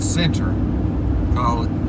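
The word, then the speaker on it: Centre: This little town called Center, spelled C-E-N-T-R-E. That's how it's spelled.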